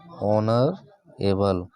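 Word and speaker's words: honourable: तो यहां पर देखि एच जो होगा इनका क्या होगा साइलेंट होगा और हम पढ़ेंगे कहां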